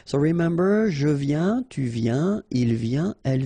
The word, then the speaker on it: viens: Je viens Final S not pronounced, okay? And when you combine this IEN, you get this yen, yen. Je viens, all right?